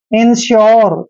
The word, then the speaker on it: insure: जैसे INSURE, देखिए यू के बाद RE आया है, तो जब भी यू के बाद RE आता है तो यू का उच्चारण यो करते हैं। इसको पढ़ेंगे हम इंश्योर।